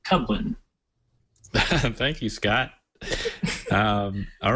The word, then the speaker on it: Kublin: launching and uh oh my last name's cuin k u b l i n it's pronounced cuin thank you Scott um